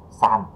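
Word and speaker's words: 山: Âm Hán thì sơn ha, mình chuyển qua nó sẽ hơi giống một tí, mình sẽ không đọc là son mà mình sẽ đọc là san ha các bạn.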